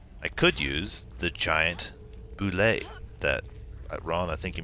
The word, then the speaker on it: boulet: Because it does not look like boulet. Which is why I had the exact notes of how to pronounce it in my notes. I'll type it out real quick. That is pronounced boulet.